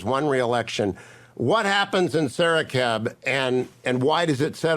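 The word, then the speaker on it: Saraqib: a village, which is exactly what happened in Sarakeb, which you pronounced very well, by the way.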